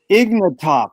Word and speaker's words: Ignatoff: It's an honor and a pleasure to be here with our facilitator and key participant, Ignatoff. Is that correct? How to pronounce it?